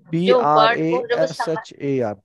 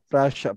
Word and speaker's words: Prashar: सर इसकी spelling लिख दीजिए, PRASHAR, प्राशर, प्राशर, PRASHAR, प्राशर light, LIGHT light, प्राशर light.